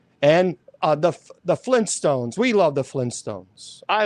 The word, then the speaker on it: Flintstones: Do you know the Flintstones is actually not pronounced the Flintstones? It's Flint Stones. There are two T's.